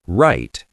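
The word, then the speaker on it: write: Right. The W is silent.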